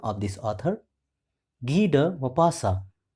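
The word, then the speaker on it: Guy de Maupassant: the story the author of the story is G mapasa once again listen carefully the pronunciation of this author g mapasa g mapasa was born on 5th August 1850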